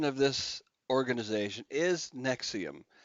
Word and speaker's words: NXIVM: of this organization is nexium just like the heartburn medication yep it is Latin